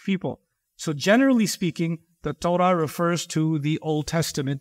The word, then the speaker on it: Torah: The word Torah comes from the Hebrew language and it is pronounced as Torah.